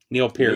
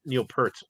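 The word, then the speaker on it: Neil Peart: we've said already but someone say the name Neil Pier Neil Pier Pier I my whole life I've called him Neil perz but I I still I'll I'll call him both I'll pronounce it both ways in one sentence hey Louis Clemente yeah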